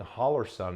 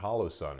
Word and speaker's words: Holosun: But before we go any further, you might have noticed that I'm saying Holosun and not Holosun. It's because it's a weird name and people mispronounce it in videos all the time.